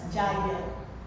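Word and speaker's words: yajna: Jagya. Se escreve yagna, mas se fala jagya.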